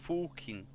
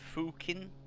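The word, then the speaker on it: Fucking: e Fen yeah fukin in Austria is like fukin that's how you pronounce it I it's like fukin fukin come on do it do it EG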